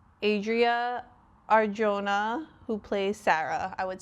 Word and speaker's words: Adria Arjona: Adria Arjona who plays Sarah.